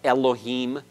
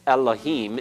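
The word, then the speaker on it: אֱלֹהִים: no distinction in sound occasionally we'll slip up and try to make a distinction in some way like in the name of God Elohim but it's Elohim it's it's really you have it's not really the a as in the segol and it's something that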